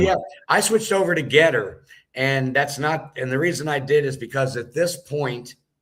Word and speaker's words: GETTR: the most effective on Getter. So if anyone is on Getter, that's spelled GETTR, and it'll be at